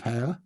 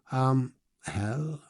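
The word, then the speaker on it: Hayle: Yeah, so I'm heading to Land's End tomorrow, starting off just outside of Hale. Hell, I'll learn how to say it properly one day without saying hell.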